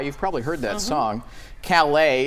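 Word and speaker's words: Caillat: probably heard that song Calais is how it's properly pronounced excuse me it shows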